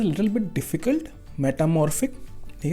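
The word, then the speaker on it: metamorphic: Now this name is a little bit difficult, मेटामॉर्फिक। ठीक है, इसको भी आपको थोड़ा प्रोनाउंस करना पड़ेगा, मेटामॉर्फिक। ठीक है, पीएच को फा बोलते हैं।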